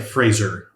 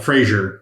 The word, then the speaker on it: Fraser: performance I've ever seen it's Brennan Frazier it's like Fraser Fraser yeah it's not Frasier it's like a razor but Fraser but everybody pronounces it wrong yeah yeah probably I